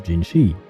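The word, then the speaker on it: Jinhsi: well it seems that I have been mispronouncing her name the entire time so I'm very sorry about that her name is gingi even though the S is after the H though I have no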